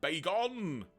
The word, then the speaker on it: Bagon: Also, you're right, Bagon probably would be the correct pronunciation because there's only 1 G, so yes, Bagon!